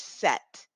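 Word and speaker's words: sept: say this this number it is set without the P okay let's move on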